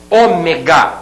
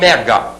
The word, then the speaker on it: Ômega: tá também relacionando aqui Ômega e não ega Ômega proparoxítona você vai observar